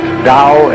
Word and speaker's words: Tao: for the Dow t-a-o pronounced Dao in the Mandarin dialect Tau in The Chiang